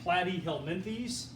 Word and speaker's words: Platyhelminthes: mean by flatworms belonging to the flop that's pronounced platyhelminthes okay that's one of the few words i